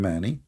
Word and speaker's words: Mani: And if you want, you can go and do a little search about this man, Mani. This is how you pronounce his name.